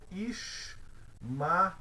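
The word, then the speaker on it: ישמעאל: Nós pronunciamos Ishmael.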